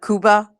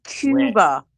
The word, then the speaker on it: Cuba: Sulaman how to um pronounce Cuba cuz you're like Kuba. Kuba." So, they're literally spelling it and trolling you on YouTube. They're like, "Tell him it's Cuba."